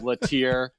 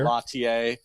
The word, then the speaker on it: Latier: problem i mean i i inherited the pronunciation of latier from my dad the french would be lattier you know okay i wondered